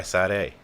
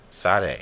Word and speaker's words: Sade: Oh my God, he did the video for "Smooth Operator" by Sade. Sade.